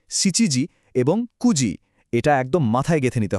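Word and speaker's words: 九時: চারটা, সাতটা এবং নয়টা বাজার ক্ষেত্রে কোনভাবেই মানে ভুল করেও সিজি, নানাজি বা কিউজি বলা যাবে না। ওই হাইলাইট করা অংশগুলোর সঠিক উচ্চারণ হবে ইউজি, সিচিজি এবং কুজি এটা একদম মাথায় গেঁথে নিতে হবে।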